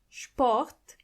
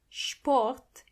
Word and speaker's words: Sport: When you see an S before a P, you have to automatically pronounce the S as sh, even if there is no C or H. The S is pronounced as sh as long as there is a P after it.